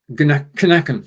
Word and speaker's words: knacken: Klitz keine Kinder können keinen Kirschkern knacken. Knacken, yeah. Okay. It's you went into English mode when you read it the first time, because the KN is the K is silent, whereas in German it isn't.